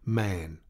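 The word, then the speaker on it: Mahon: man but he insisted that it should be pronounced man he was well connected yet there was something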